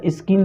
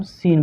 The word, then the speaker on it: scene: तो इसको क्या स्किन थोड़ा पढ़ेंगे, इसको हम सीन पढ़ेंगे, क्योंकि यहाँ पर एस के बाद जो ये सी है ये आपका क्या है, चुप है, साइलेंट है।